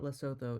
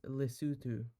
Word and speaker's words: Lesotho: So, I'm pretty sure they have a ski resort in Lesotho. If I'm not wrong. Okay, so it is not Lesotho, it is Lesotho.